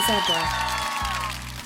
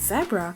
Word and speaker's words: zebra: this animal is a zebra we can either pronounce it zebra or zebra the fastest animal yes